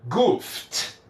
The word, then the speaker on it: goofed: Depois da letra F, se eu colocar um ED, este ED vai ficar com som de T. Então vai ficar goofed, goofed, goofed. Então do F eu vou direto para a letra T.